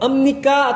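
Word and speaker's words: 입니다: Lalu emnika atau biep nikah. Emnika atau biep nikah. Kak, ini kan biep nikah. Biep nikah kok bacanya miem? Ingat pelajaran bacim. Bagi yang belum belajar bahasa bacim, kelas bacim, jika bacim biep bertemu dengan nian, biep berubah menjadi miem.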